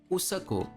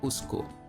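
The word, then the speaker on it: उसको: Nepali, for example, would call this word Usako and not Usko.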